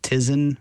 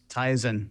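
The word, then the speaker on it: Tizen: can about is it is it Tisen? Is that what it's called? Tyizen. Oh, great. Sorry, I mispronounced that for everybody.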